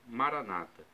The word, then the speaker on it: Maranata: irmãos evangélicos ou protestantes colocam a tônica na penúltima sílaba Maranata o significado é o